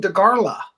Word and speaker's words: Dagara: They're being released by Dagara, and they call them Dagarla here, but it's spelled Dagara with no L.